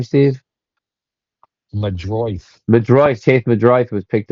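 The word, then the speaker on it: Meidroth: Madroith.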